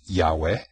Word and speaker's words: Yahweh: and um in in Hebrew it's uh it's pronounced Yahweh and it's now there's no vowels with it